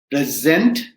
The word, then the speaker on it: present: word the meaning changes same thing with the word p-r-e-s-e-n-t right so if you say present i'm giving a present right that means a gift and if i say present right present that means i'm introducing myself i'm presenting sadia in